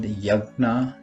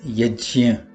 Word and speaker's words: यज्ञ: Sometimes Yajna is called Yagna or Jug, but we should be mindful that the correct pronunciation of this word based on the Sanskrit phonetic system, is Yajna.